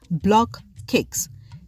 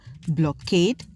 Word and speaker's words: BlockCakes: In the market, consumers call the bread based on their own phonetics, hence the reason why the bread has multiple pronunciation and spelling, some of which are Blockade, Blockate, Blockate, Blockade. Hence, the real name for this bread is BlockCakes, little cakes formed in